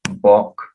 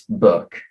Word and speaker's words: book: book for example they would pronounce bok um and i would say no it's book and i'd ask them